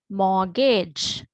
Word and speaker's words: mortgage: as i said here when we read we do not pronounce the t right so that is why we call it as silent t right so as an example mortgage soften right so t